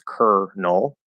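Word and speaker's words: colonel: is I'm like okay there's an L in the middle but it's pronounced with an R which is very strange um and then that o the second o is silent it's ker null um and so it's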